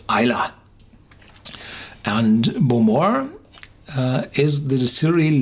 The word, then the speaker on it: Islay: The typical English-speaking person would say Islay, just from the spelling. But the natives of Islay, the Iliach, they pronounce it Islay.